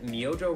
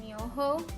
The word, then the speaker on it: Myojo: tonkatsu seafood pork flavor so for the longest time i thought it was called myoho i'm glad michael looked up the right way of saying it i looked it up